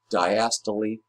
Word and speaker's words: diastole: Diastole, pronouncing that E on the end, is the relaxation phase.